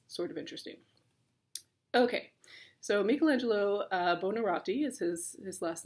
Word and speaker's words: Michelangelo: A lot of the American pronunciation is Michelangelo. That's technically not right, but it doesn't really matter. So if you want to call him Michelangelo, that's fine. It's Michelangelo. Okay.